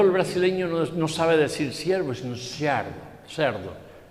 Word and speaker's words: siervo: Pero el portugués o el brasileño no sabe decir siervo, sino cerdo. Y claro, las personas se quedaban extrañadas y le decían a su hermano cerdo. Le digo, no, cerdo no, siervo.